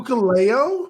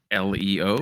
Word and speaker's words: Hikuleo: Hikuleo. No. Who the fuck is that? He's part of the Bullet Club. Marie Shadows will have a word with you. Ukuleo?